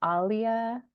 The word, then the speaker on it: Alia: You did pronounce it correctly. Alia's Arabic, Alia.